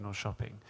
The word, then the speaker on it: Norrköping: It's spelt Norrköping, but they pronounce it Norrköping.